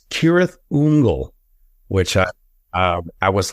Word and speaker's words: Cirith Ungol: the Rings books many times um we've always pronounced sah Thung the band apparently um according to J.R token the correct pronunciation I don't know if you've ever heard this before it's kirth unle which I um I was like i' never